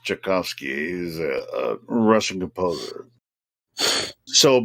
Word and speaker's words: Tchaikovsky: of it well I I think it's pronounced Tchaikovsky he's a Russian composer